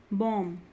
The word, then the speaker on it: bomb: Bomb, B is silent.